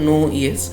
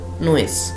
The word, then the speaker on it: Noyes: তৈরি হয়েছে, কিন্তু উচ্চারণটা নো ইয়েস এরমভাবে করবে না, উচ্চারণটা হচ্ছে নোয়েস, মানে একটু তাড়াতাড়ি করে ইয়েসটা যদি বলা হয় নোয়েস।